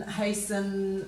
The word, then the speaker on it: hasten: hassles jostle and castle so all of those T's are silent in the first we really have some they've got them finishing with a schwa sound so often soften fasten hasten listen listen in the